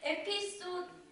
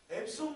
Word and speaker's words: EPSON: NK 사용 제품을 출시한 에피소드 이거 D 아니에요 에피소드 자 김지민 기자 이거 누가으로 써놨지 김지민 기자 진정하시고 에피소드가 아니라 그건 손이라고 읽는 거잖아요 그 유명한 회사 앱손 모릅니까 앱손 몰라요 알아요